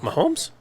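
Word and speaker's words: Mahomes: Jalen hurts yeah or Patrick Mahone right right did I say it right why did I think that was so wrong my homes yeah yeah for whatever the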